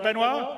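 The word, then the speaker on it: Benoît: CTO benoir bezer did I say it right benoir nice yeah okay good I'm always bad with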